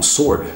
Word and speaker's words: sword: answer ah ou então Sword tem um w ali você não pronuncia esse w ou mesmo Listen listening